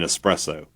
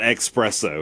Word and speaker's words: espresso: pronunciation issues last week, you are saying espresso. Yeah. I know I know that one. Not expresso.